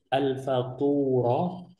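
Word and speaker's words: الفطور: Al-faturah. Al-fatur, ini cara bacanya al-faturah.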